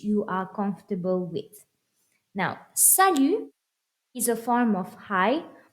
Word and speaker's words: salut: work on your pronunciation salute not salute salute the t is silent and we have cuckoo